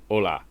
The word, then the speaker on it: hola: It's just there's not a silent H in it. It's just hola. Oh, like hello. Hola. Oh, okay. Hola. Just Just no silent H is hola.